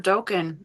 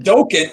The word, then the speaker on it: Dokken: Who's the guitarist for Dokken? Oh, you think I would know that? Dokken. Wait, it's not even Dokken. It's Dokken. I say it wrong too.